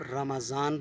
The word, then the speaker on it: رمضان: تو وہ لفظ ہے رمضان، جس کو ہم رمضان المبارک یا رمضان کہتے ہیں۔ اس کو آپ رمضان بولیں گے، میم کے اوپر زبر ہے، اور رمضان نہیں کہنا، رمضان۔ اور